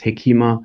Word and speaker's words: hekima: Yes, some pronounce it hikmah there as well, others hekima. So it depends a little bit on where one is on the Swahili Coast.